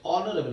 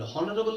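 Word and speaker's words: honourable: अब आप बोलेंगे एच वहां पर साइलेंट है, जैसे ऑनेस्ट, आवर, ऑनरेबल, कुछ भी शब्द बोल रहा हूं, देखिए एच से शुरू हो रहा है, ऑनरेबल, हॉनरेबल नहीं बोलते, हावर नहीं बोलते, आवर बोलते हैं, ऑनेस्ट, आवर, ऑनरेबल, एच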